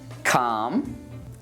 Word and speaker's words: calm: Well, we don't pronounce it in chalk, talk, walk, calm, and palm.